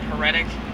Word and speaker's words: heretic: and a liar and that's how you say it heretic heretic her attic there you go these